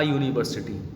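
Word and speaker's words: university: यहां लिखा है था यूनिवर्सिटी हालांकि फस लैटर यहां पर प्यार है यू विल होता है बट यू का साउंड ए वाइडर बल को से प्रोड्यूस हो रहा है इसीलिए हम यहां पर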